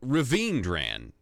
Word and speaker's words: Raveendran: nine who is Raven dran Raven dran that's right no I'm sorry Raveendran I'm miss I'm not